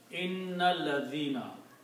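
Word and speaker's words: إِنَّ الَّذِينَ: But when you read together with inna and alladhina, then you do not pronounce this alif here.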